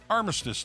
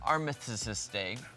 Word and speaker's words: Armistice: Service Members Day, Armed Forces Day, Armistice Day. It's always been Veterans Day. I'm going to go with uh the word I can't pronounce. Armyiste.